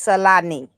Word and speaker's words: Salani: I will pronounce it properly. It's Salani.